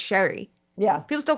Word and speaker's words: Sheary: that like Connor Sheary, and his name was pronounced wrong for years and he was like, oh, it's Sherry. Yeah. People still call him Connor Sheary.